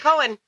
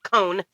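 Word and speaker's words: Cohn: Oh my God, Mark Cohen. Or I'm sorry, Cone.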